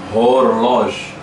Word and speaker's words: horloge: Horloge. Horloge. Não é rei, né? Relógio. Então você pode ver que é igual a garagem lá. Garage.